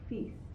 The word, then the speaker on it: feast: all enjoyed your Thanksgiving feast. I know I did. Now, look at this. The two vowels are side by side next to each other, right? We only pronounce the E. Feast, right?